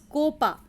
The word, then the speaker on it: copa: CO is pronounced Ko, as in Copa, Copa.